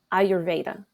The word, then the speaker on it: ayurveda: our audience can you tell us what is ayurveda and and correct me if i pronounced it wrong no you you said it